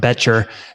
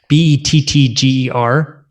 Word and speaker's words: Bettger: I think it's actually pronounced Betcher, Bettger.